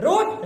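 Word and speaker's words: read: Right righted righted रोड रिटेन। रीड रीडेड रीडेड रीड रीड same spelling लेकिन पढ़ेंगे हम रेड।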